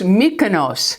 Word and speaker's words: Mykonos: told me it is her husband was Greek and she said it's pronounced Mykonos so this is by